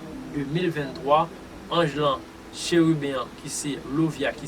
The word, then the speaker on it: Lauviah: Certes, on est capable d'adresser dans la prière, dans la date cap mardi cap 20 juin 2023, Angelan chérubin qui c'est Lovia qui s'écrit L-A-U-V-I-A-H, il y a un rapport avec le rituel d'Ié.